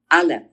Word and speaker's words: Aleph: Aleph. That is the Aleph. The Aleph, which has no sound. It is silent.